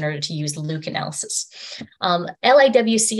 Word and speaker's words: LIWC: LIWC is pronounced LIWC, and this tool is